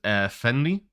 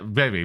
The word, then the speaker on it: Rary: Fenry? Fenry, is that how you say it? Renry. Rary? Oh, what? Yeah. Yeah, Rary, my bad.